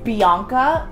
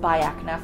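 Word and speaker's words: Biacna: called by AK nap I've been calling this Bianca for the longest time but my dermatologist corrected me I said it's pronounced by AK enough or liked by acne like goodbye good friends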